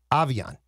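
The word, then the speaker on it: Aviante: Pronunciation per the Vikings. Avian. A-H capital V-E-E -O-N.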